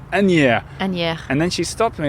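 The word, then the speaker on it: Asnières: maybe yeah she says you don't pronounce the S it's any and then she stopped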